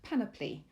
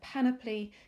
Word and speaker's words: panoply: myriad torrent mass and panoply note that said panoply because it's very tempting to say it like it rhymes with monopoly it doesn't so just panoply let